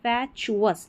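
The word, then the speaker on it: fatuous: फिर यहाँ पर भी यही पैटर्न है चुअस वाला, तो यहाँ पर हो गया फैचुअस, एफ ए को फै पढ़ा, फैचुअस मतलब मूर्खतापूर्ण, फैचुअस मूर्खतापूर्ण।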